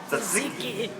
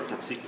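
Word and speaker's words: tzatziki: First step of Tahzihki sauce is you have to know how to pronounce it right. Tahzihki. No. Tahzihki. Tahzihki. Exactly.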